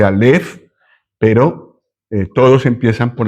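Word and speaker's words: אלף: No se dice a, se dice alf, pero eh todos empiezan por la primera letra del alfabeto, pero es en realidad esto.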